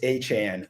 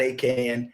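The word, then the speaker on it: Achane: It's A-Chan. I know there's been a lot of debate. How do we say his name? It's not A-Can. It's not A-Chain. It's A-Chan, like 4chan, but A-Chan.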